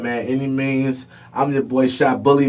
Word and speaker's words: Annimeanz: n i m e a n z it's pronounced any means but that's the way it's spelled you know